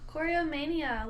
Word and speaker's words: Choreomania: Choreomania, like choreography. Oh, root word, choreomania.